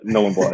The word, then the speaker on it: Nhulunbuy: I was born in a pretty remote town called Nhulunbuy, which no one's ever heard of, and then and thanks for pronouncing it for me. Yeah. No, you don't have to. Yeah. Nhulunbuy, that's it.